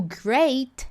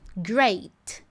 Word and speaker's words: great: O great é a mesma coisa. Great. Explodiu o T. Posiciono, mas não explodo.